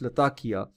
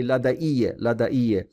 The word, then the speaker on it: Latakia: So Latakia, we say in English Latakia, right? The Arabs themselves say Ladaiye, right? Ladaiye, they pronounce it like that.